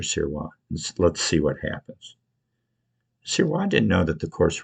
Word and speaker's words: Sirois: Sirois didn't know that the course record at Detweiller was for 1553.8. I know it. But it's pronounced Sirois. That's not Sirois. Sirois. French. Very French.